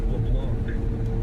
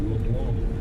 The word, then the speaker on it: LeBlanc: He's up for the national player of the year and so far that name away it's got a French Cajun pronunciation. It looks like LeBlanc, but it's LeBlanc and he has become a household name across the United States.